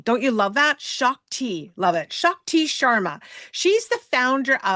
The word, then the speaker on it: Shakti: Her name is pronounced Shockti. Don't you love that? Shockti.